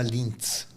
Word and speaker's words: Linz: Lindt não tem nada a ver com aquele chocolate? Não. Porque é o mesmo nome ou não? É parecido a pronúncia só? É diferente. Lindt é um chocolate, em minha cidade chama Linz.